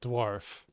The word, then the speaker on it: dwarf: for me the word dwarf remember it rhymes with the word scarf hold on one second